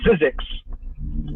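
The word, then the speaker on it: Zyzx: It's pronounced physics.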